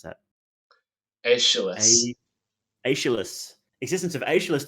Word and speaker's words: Aeschylus: One might well suppose a schoolboy suggesting the existence of, oh god, how do you pronounce that? Aeschylus.